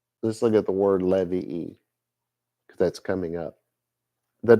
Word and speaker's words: Levi: It's the tribe descended from Levi, or Levi to say it right, especially set aside by God for his service.